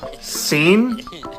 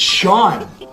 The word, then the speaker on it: Sean: which means this word is, Scene? no, it's Sean.